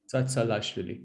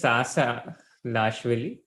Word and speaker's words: Tsatsalashvili: So first, second part are the same. It's Tsa Lashvili. Tsa Lashvili. Tsatsalashvili.